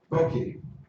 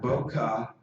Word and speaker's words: bokeh: Bokeh, okay. Not bokeh, not bouquet, all right? The word is pronounced bow as in bow and arrow, key as in kettle, bokeh.